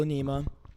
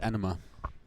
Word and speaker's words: enema: case they start with medical anema which is injecting fluid into the large intestine the colon I thought it was pronounced enema thank you thank you